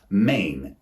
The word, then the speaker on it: main: The next example of homophones is the word main, M-A-I-N.